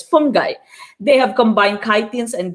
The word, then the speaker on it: fungi: a fungi okay here i pronounce it as um when i'm teaching my students i pronounce this as fungi they have combined chitins